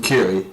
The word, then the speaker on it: Curie: Yeah, and then Curie. As in cure, but yeah, cure.